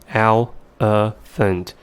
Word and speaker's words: elephant: hope you find it the vowels in the second and third syllables somehow change to a sound which doesn't exist in the given phonograms and the reason why those vowel cells somehow change is because they are in the unstressed syllables and this fact is